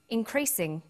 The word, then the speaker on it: increasing: But when you come across longer words, you have to learn which syllable to stress. For example, we say intelligent, increasing, and markedly.